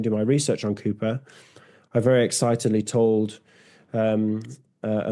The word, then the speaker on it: Cowper: Sense and Sensibility movie, they pronounce his name as Cowper. Is this Yeah. a regional thing, or did they make a mistake? Yes, so Cooper, Cowper, everybody gets confused about that.